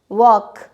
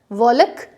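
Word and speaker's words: walk: Next हमने लिया के से पहले अगर एल आया है, टॉक, वॉक, तो यहाँ पे आप टॉलक वॉलक नहीं बोलेंगे, टॉक वॉक ये बोलेंगे।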